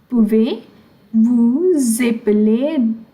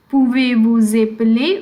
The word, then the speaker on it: Pouvez-vous épeler: Pouvez-vous épeler? This S is getting pronounced because there is a vowel here. It's called liaison. Pouvez-vous épeler votre nom?